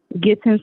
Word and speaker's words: Gittens: Gittens like kittens, but with a G.